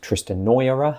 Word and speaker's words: Tristenoira: Part 1 was everything up to the Castle Tristenoira, or might be pronounced Tristenoira, but I like Noira because it sounds like noir.